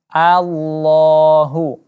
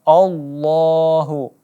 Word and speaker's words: Allah: baris vattha atau baris atas maka kita baca allohu allohu bukan Allahu ih allohu kemudian pengucapan Nasrul jagalah diantaranya yang banyak disalahkan yakni